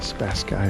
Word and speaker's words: Spasski: and there's a river the spa sky river is the way that guy pronounced it let's go over